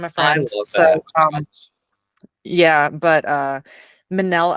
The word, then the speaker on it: Mennell: friend yeah but uh Manel is the pronunciation of my name gotcha okay that's I